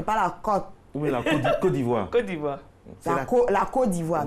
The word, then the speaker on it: Côte d'Ivoire: Oui, la Côte d'Ivoire. Côte d'Ivoire. La Côte d'Ivoire, non. Je vous en prie, chers téléspectateurs. C'est la Côte d'Ivoire. Et la phonétique s'écrit avec un K-O-T.